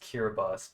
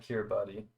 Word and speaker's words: Kiribati: should farm some super this is pronounced kiribati by the way not cure buddy just uh fyl go